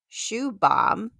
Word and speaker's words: Shubham: A friend of mine's name is pronounced Shoe Bomb, which is spelled Shubham.